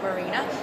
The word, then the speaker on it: Marina: so my name is marina it is spelt and sounds exactly the same way as up marina never understood my whole life my kids mispronounced and misspelled it's an actual object if you'd like to